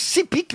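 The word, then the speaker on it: Sepik: des Incas non Mexique ça se prononce si pique mais ça s'écrit sepk c'est le plus long fleuve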